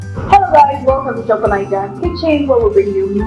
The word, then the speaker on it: Chakalaka: Okay, so Grace is going to be preparing Chakalaka Chakalaka from South Africa. Wow. Okay, there's anything I like about it. I think I like the fact that it rhymes with the country as well. Chakalaka from South Africa.